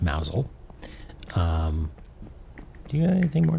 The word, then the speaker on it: Mousehole: So Mousel is a town, spelled Mousehole, pronounced Mousel.